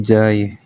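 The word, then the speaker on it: जय: Misal lagi kayak Jaya mereka jadi jaay.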